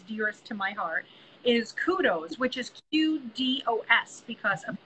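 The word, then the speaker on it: Qdos: the ones that's dearest to my heart, is Kudos, which is Q-D-O-S, because of course everybody can spell it with a K, but it is Q-D-O-S, and they make a zero screw furniture anti-tip kit.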